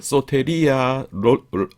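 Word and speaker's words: σωτηρία: 소테리아 , 로테리아 , 발음 이 비슷하죠 ?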